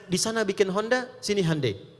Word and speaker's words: Hyundai: sana bikin Honda sini Handai hyundaikan dibacanya Handai gitu kan sana Honda